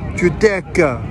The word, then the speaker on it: Giudecca: Giudecca, pronounced Giudecca, is one of my favorite stops.